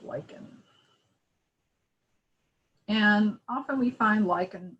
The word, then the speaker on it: lichen: that lichen is pronounced lichen it's not lichen it's not something else it's lichen as in i like you all right so we